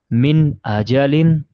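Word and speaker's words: مِنْ أَجَلٍ: So here we will not make gunna. Means the nasalization will not be done. We will say it like that. Min ajalin. I'll say it. Min ajalin. Yeah, don't make the gunna. Just say the noon normally.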